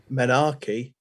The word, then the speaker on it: menarche: of that menace or actually as it is pronounced menarche is good for eight well done wrong what does it mean uh menarche is the first occurrence of menstruation really who's